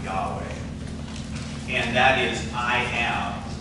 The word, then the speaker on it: Yahweh: But if you were to pronounce it, it would probably be pronounced Yahweh.